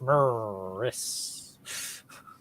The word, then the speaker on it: Maris: Who is Maris? That's correct. And indeed, you did reclaim the lead. Properly pronounced Morris. Original True Ultimate Champion.